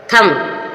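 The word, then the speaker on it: thumb: डम डम मींस गूंगा एम के बाद भी साइलेंट है यहां आपने थम थम मीस अंगूठा एम के बाद भी साइलेंट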